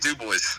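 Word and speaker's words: DuBois: Can you pronounce it for me one more time? Penn State Du Bois.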